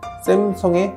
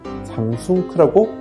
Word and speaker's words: Samsung: 영어 이름이 SAMSUNG인데 삼숭, 샘숭이라고 놀리기도 하지만 실제 미국인들은 샘성에 가까운 발음을 한다.